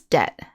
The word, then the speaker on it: debt: something owed usually money notice that the b in debt is silent so it's pronounced debt